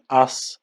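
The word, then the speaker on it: аз: And here very clearly you can see that the Z becomes voiceless. So it becomes from Z, it turns into S. That's also because the following sound is voiceless as well.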